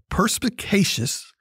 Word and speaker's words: perspicacious: perspicacious uh opinion okay perspicacious the word of the day as an adjective four syllables p e r s